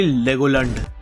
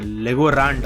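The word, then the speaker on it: Legolant: अब बात करते हैं नंबर 12 ब्लैक बुल मेंबर की, जो की है हेनरी लेगोलैंड। आई मीन लेगोरांड, अबे बोलते जैसे लेगोरांड।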